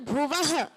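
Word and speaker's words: भुवः: भुव क्या हो जाएगा भुव के व के बाद दो बिंदु है ना वो बिंदू भी बहुत इंपोर्टेंट है उनका भी उच्चारण करना है उनका उच्चारण क्या होता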